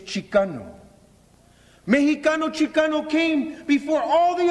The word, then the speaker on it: Mexica: We are at the great Mexica Empire.